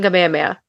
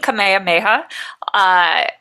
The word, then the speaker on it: Kamehameha: Because even just like look at King Kamehameha, it's right there. Ha, Yeah. me, ha, like miha, like it's right there. Yeah. It's so easy.